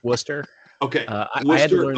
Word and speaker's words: Worcester: Uh Warchester. Yeah, it's pronounced Worcester.